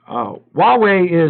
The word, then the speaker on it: Huawei: It's pronounced Huawei. I know what it's pronounced. I say hoo-wah. And the reason I say hoo-wah is I'm speaking in English, and Google translates English. And if I don't say the word with an H in it, Google has no